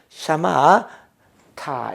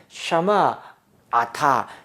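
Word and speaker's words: שָׁמַעְתָּ: 타가 붙었는데 샤마아타, 샤마으타, 샤마에타라고 발음하지 않고 요거 자체가 발음이 거의 나지 않죠. 후음 문자는 발음이 안 나니까 안 나는 길에 샤마타 이 자체가 거의 발음되지 않는 것 무성이다라고 얘기를 합니다.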